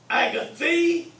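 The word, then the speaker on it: ἀγαθή: So here's how you pronounce it. Agathos, agathi, agathon.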